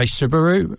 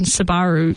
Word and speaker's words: Subaru: I used to say Subaru, but then I then Subaru, but then everyone over here says Subaru. It's that sort of like you say tomato, I say tomato. I think for some reason Subaru and Sabaru sounds like two completely different.